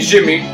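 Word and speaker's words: Djimmi: Jimmy the it's pretty much, well, you pronounce it as Jin. You don't say the Jin when it comes to you say it as, so this would be Jimmy.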